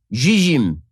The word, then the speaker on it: Zzyym: The recipient is Colorado resident Dana Zizim. Okay, the reason I pronounce it that way is because the last name is spelled Zzyym.